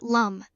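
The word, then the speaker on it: लं: A simple mantra for her is lamb, pronounced lum, which resonates with the root chakra and brings stability.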